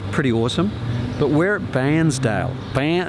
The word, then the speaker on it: Bairnsdale: But we're at Bairnsdale. It's not like, it's a bit like Barnsley. Barnsley.